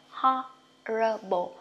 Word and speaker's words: horrible: ho o ngắn nha, horrible, đọc o dài cũng được, anh Mỹ thì đọc là o dài ha.